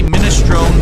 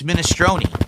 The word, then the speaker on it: minestrone: So, I say minestrone soup and they're like, "No, it's minestronei." Oh, really? Do you pronounce it provalone cheese, you idiot? It's what we do, Philip. The problem is Americans don't know how to pronounce anything. So, they all just make up. Take the temperature in. It's not provolone. It's not minestronei.